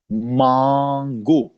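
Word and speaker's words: Mango: भी सेम है इसके अब अगर इंग्लिश में आप जाएंगे कहीं मार्केट्स में आप कहेंगे इसको कि मैंगो लेकिन जर्मन में मांगो मैंगो मांगो क्यों क्योंकि अब ये ए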